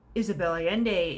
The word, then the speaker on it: Isabel Allende: e and d e those two l's are sort of silent but not entirely because there does seem to be another sound in there it's almost as though the l's uh become a why of sorts which is interesting so those are two